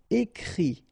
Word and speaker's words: écrit: Okay, and then the IT, phonetically you pronounce I because final T is not pronounced, but still. Écrire, to write, écrit.